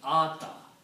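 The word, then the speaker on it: آتى: And they are pronounced as Ata because now you have an extra Alif there.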